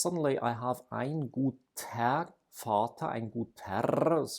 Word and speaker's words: Vater: I have ein guter Vater. The R is not pronounced, it's vocalized, but it is there